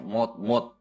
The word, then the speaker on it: mode: Mode, tulisannya mode, tapi bacanya mod on, misal artinya itu mode apa ya?